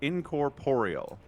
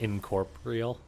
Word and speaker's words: Incorporeal: So, it's incorporeal. Incorporeal. Incorporeal. It's a lot of syllables, man. I've always read it like incorporal. Yeah, me too. I don't think it is.